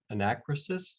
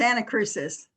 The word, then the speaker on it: Anacrusis: Does anyone grow the arrowbred anacrysis? And I don't know if I'm pronouncing that correct either. Dell, if you want to chime in on that. It's anacrusis. Anacrusis, okay.